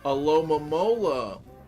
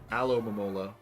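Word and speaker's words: Alomomola: mola is up there alom mola so you can't emphasize both the front and the back it's just too much your dad giv a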